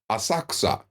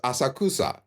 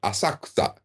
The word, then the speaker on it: Asakusa: place in Tokyo called asaksa when you look at it it looks like it says asakusa but that middle syllable is almost silent asakta the coup is silent